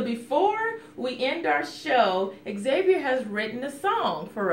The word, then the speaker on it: Xavier: That, Miss Serrano, she calls me Xavier, but my name's supposed to be Xavier, and she spells my name by X. Xavier. That's Xavier. So it's very important to you that your name be pronounced correctly, right? Yes. So how would you like your name to be pronounced? Xavier with the X. Xavier with an X. So you have to pronounce the X.